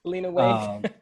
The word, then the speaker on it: Lena Waithe: so, you know, and I always say her name wrong. Lena Waithe, her from The Chi. Lena Waithe.